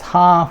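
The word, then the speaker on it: 蝦: And because prawns in Cantonese is pronounced as ha, which means laughter.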